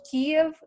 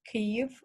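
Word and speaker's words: Kyiv: of all it's pronounced cave in ukrainian and it's spelled um k-y-i-i-v it's not spelled k-i-e-v as most people know that's a wrong spelling that refers to a russian way of saying it and we as ukrainians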